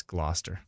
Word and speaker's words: Gloucester: oh Gloucester that's right it's not Chester it's Gloucester we went through this